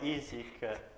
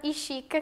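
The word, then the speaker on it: Işık: Selatin Dasati, poi Isik Ipek Filiz e infine Kerem lo interpreta Kulilai H7 virgola H. Ok. Allora, correggo le pronunce perché mi hanno fatto morire. Sinan Burshu Eda Osman Ishik Kerem.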